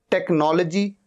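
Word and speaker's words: technology: sound ही नहीं है टेक्नोलॉजी टेक्नॉलॉजी एच यहां पर साइलेंट है वाई यहां पर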